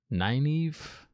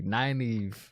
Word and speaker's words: Nynaeve: Let me see if I can pronounce this right. Nynaeve. I think I nailed it. I think I nailed it that time. Finally, Nynaeve.